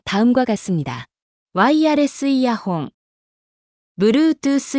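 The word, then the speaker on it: ワイヤレスイヤホン: 일본어 발음은 다음과 같습니다. ワイヤレスイヤホン、 Bluetooth イヤホン、ワイヤ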